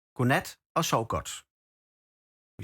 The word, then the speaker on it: godnat: We say godnat og sov godt. We spell it like this. I'll spell it for you guys. That's basically good night and sleep well. Godnat. We don't say the D.